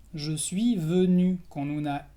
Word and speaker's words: venu: entonces es je suis venu. Je suis venu con una U al final. La U francesa, cuidado, tienes que pronunciar la U francesa. Je suis venu con la boca cerrada.